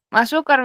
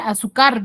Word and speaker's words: azúcar: Azúcar, Miss. Lleva Ya, 3. azúcar. ¿Cuántas sílabas tiene? 3. Tiene 3. ¿Dónde tiene la mayor fuerza de voz? Car. En car, azúcar, digo.